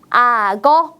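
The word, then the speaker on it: 악어: 어려운 것 같지 않나요 자 우리 편하게 앞에 있는 받침을 뒤에 이응 자리로 옮겨서 읽어 보겠습니다 어떻게 읽을까요 맞습니다 아거라고 읽을 수 있겠네요 같이 한번 읽어 볼까요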